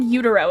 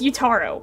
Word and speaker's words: Utaro: His whole name is I don't know why he said Udaro is Utaro.